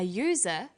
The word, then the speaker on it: user: And where the vowel U is pronounced y, we use a. So we say an umbrella, but a user, because user sounds like it begins with a Y.